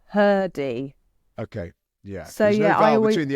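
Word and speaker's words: Hrdy: Um, you recommended I read Father Time by Can you say her name because I feel like it's missing a vowel? Yeah. Yeah. I didn't realize this, but it is It is Sarah Blaffer Herdy.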